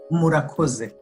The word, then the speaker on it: Murakoze: Murakoze. Murakoze.